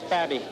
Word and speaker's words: Fabby: I'm not too sure about the pronunciation of the last word, but I pronounce it fabi. Is that right, or fabi? It's Fabby. Fabby.